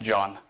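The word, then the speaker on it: جان: other Persians a lot it's a three-letter word spelled Jan pronounced John and when you tell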